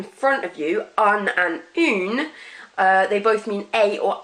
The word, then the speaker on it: une: And then you've got feminine, which is une.